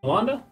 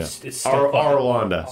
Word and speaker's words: Arlanda: Orlando, get that name right. Yeah. Arlanda.